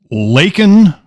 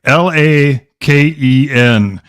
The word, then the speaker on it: Laken: Laken Riley, Laken.